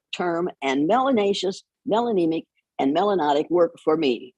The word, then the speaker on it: melanotic: If you have a lot of melanin in your skin, you're melanotic, which rhymes with exotic.